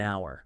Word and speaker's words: hour: use an like an hour precisely yeah because that H is silent so it's all about